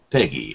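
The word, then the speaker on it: PEGI: e GGI though yeah they pronounce it Peggy like the announcer says Peggy 18 oh oh okay sorry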